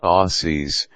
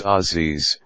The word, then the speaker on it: Aussies: in mind though that Aussies pronounced as Ozzy's not Aussie love making fun of